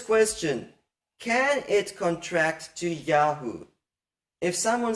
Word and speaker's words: Yah: And you see this in Yah, which in the poetic form of the name, Yah is the emphasized syllable.